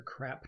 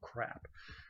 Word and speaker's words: CRAAP: And yes, you heard that right, the CRAAP test, but it's spelled C-R-A-A-P because there's two A's in this CRAAP.